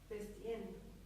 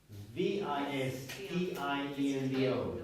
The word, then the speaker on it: vistiendo: Dressing. No. Vestiendo. Vis. V-I-S-T-I-E-N-D-O. Vistiendo. Oh, sorry, Why- yeah. why? Vestiendo. Sorry. Because it's vestir, right? And vestir is an irregular verb.